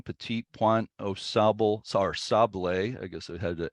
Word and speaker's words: Sable: So that's the pronunciation of Sable rather than Sable comes from French. It's kind of an approximation of the French.